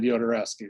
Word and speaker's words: Jodorowsky: so but the people the spanish people all said yodereski so you know i'm